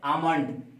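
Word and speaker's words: almond: देखिए ए एल एम ओ एन डी है आमंड, ए एल ओ एम एन डी, यहां पर क्या है एम से पहले है ना एल, इसलिए क्या हो गया साइलेंट हो गया।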